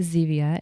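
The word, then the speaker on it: Zevia: Um, but try Zia. It's spelled ze via a.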